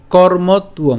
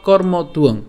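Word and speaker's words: কর্মত্বং: আপনারা জেনে গেছেন তা আরেকবার আমরা একটু দেখি উচ্চারণটা কেমন হচ্ছে নিয়তং কুরু কর্মতুয়ং অথবা কর্মতুং হ্যা আমরা এই কর্ম পর্যন্ত উচ্চারণ করার পরে তর সাথে উংটা উচ্চারণ করতে পারি।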